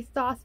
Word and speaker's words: Thoth: radiant wise spirit hero the thoth tarot or tough tarot depending on how you want to pronounce it by aleister crowley and